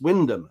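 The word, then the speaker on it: Wymondham: The word Wymundum, it's written, but it's pronounced Wyndham. That's just how it goes. I say it's pronounced Wyndham.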